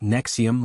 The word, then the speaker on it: NXIVM: Pronounced Nexium like the Antacid, it attracted high-profile devotees through executive success programs, intensives costing thousands, promising to shatter limiting beliefs.